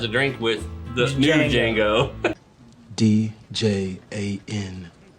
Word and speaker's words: Django: Well, that's actually the original Django. He actually sits down and has a drink with the new Django. D-J-A-N-G-O. The D is silent.